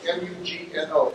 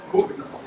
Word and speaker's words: Mugno: What's the name of the Mugno, Scott Mugno, M-U-G-N-O, Scott Mugno. Scott Mugno.